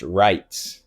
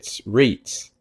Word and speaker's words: Reitz: my life, assume it's Reitz, but in German, you pronounce when E and I are together or switch, you pronounce the second letter. So I'm REI, so it's Reitz, right?